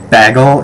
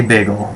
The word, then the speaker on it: bagel: this big thing about a lot of people from Western New York say bagle instead of bagel and yeah I say bagel I'm I'm I say it like the rest of the country does the rest of the